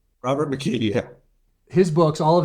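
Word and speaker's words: McKee: McKe. Robert McKe.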